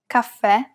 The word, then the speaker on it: caffè: If the vowel at the end is an E and it has the grave accent on top, it's indicating that we should pronounce it as an open E. And of course, we must stress the syllable. Tè, caffè, è.